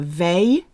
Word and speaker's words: veille: So Christmas Eve is pronounced la veille de Noël. And the old lady of Christmas, who's made up, by the way, is la vieille. La vieille. Veille, vieille. Veille, vieille.